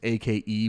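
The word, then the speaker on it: Aké: It's A-K-E with one of those little dashes over the E, so Ake, I guess.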